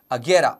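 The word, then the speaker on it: Agera: my mind is a luxury car brand named aguera which is spelled as a g e r a which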